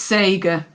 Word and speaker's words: Sagar: Sager or would you say Sager or Sagar it's Sager but people pronounce it differently that's fine I will go with anyway today.